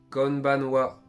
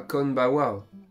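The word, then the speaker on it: こんばんは: le répète oho ensuite pour dire bonsoir c'est conbanoa mais pas conbawa conbanoa c'est un petit peu compliqué ensuite pour dire à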